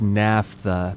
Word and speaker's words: naphtha: Yeah, it's naphtha because pH is like an F, right? Like a f.